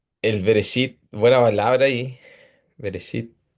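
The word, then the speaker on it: בראשית: Veresit en la pronunciación esit, pero se escribe eh resit. Ah, ya se escribe resit, pero eh la pronunciación eshit.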